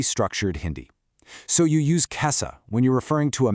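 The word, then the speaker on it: कैसा: Listen closely to the pronunciation here, especially how the vowels at the end sound. Kaise, kaise, and kaisa. I'll say that one more time. That's kaise, kaise, and kaisa.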